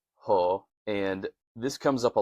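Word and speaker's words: ὁ: but just know that if you see the O with that accent over it, it's going to be ho. Ho legomenos Christos. And I think that's a really cool construction, putting Jesus ho legomenos Christos.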